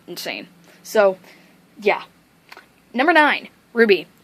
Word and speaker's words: RWBY: so yeah number nine ruby not spelt r-u-b-y it's spelled r-w-b-y in all caps being it as it